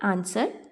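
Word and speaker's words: answer: आपको वर्ड दिए गए हैं आंसर, रैपर, लैंप, डिज़, लिसन। इनमें जो आपके साइलेंट लेटर्स हैं आपने उनको सर्कल करना है। जैसे आंसर है तो इसमें डब्ल्यू साइलेंट है तो आपने इसको सर्कल कर लेना है।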